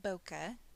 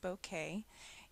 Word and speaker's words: bokeh: And bokeh is a word from Japan. It's not bokeh. I mispronounced it for years. I've been corrected. It is bokeh.